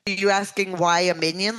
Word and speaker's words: minyan: You can think of it as, even though it's not spelled the same way, minyan, Jewish, is M-I-N-Y-A-N. But if you want to think of the little yellow guys from Despicable Me, that you get minions, you get lots of people together and pray.